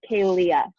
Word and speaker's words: Kealia: It's Kealia. But everybody calls me Kay. That's easier. So if you can't pronounce Kealia, Kay works perfectly.